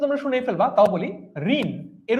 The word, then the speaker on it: ঋণ: ঋণ এর উচ্চারণ কি? ঋণ, ঋণ এর উচ্চারণ কি? ঋণ উচ্চারণ কি? প্রশ্ন নম্বর 9, ঋণ ঋণ ঋণ ঋণ ঋণ, এটার উচ্চারণ হচ্ছে এইটা, র রস্বইকার দন্তন্য হসন্ত।